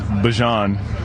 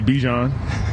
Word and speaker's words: Bijan: How you pronounce my name is Bajan. For everybody that's out there. I know a lot of people say Bijan, but it's Bajan.